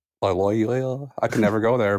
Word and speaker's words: Loyola: Laoya Loyola Loy. Yeah. Yeah. Yeah. What was the second one? Uh, Washington. Yeah, I'll say Washington. What were the other two other than Lyola? Loyola.